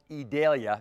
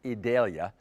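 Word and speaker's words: Idalia: It will eventually be called Edalia. That's how it's officially being pronounced. Edalia and Adalia will impact our weather.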